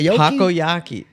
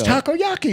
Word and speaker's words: takoyaki: know the Taki that how do you pronounce t takoyaki Taco like a taco it's takoyaki it really is takoyaki very important if anyone